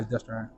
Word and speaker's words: Destrehan: Yeah, Destrehan.